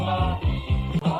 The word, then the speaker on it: our: ايوه في الحقيقه هنا هو قال hour، وكل مره تلاقي كلمه hour في الانجليزي الامريكي وعايز تنطقها بسرعه مع سياق الكلام اخطفها، ما تنطقش منها حاجه غير حرف الار، واكبر دليل عندك ان هو ما نطقش اي حاجه غير حرف الار، ركز في بقه، بص ما قفلش بقه اصلا.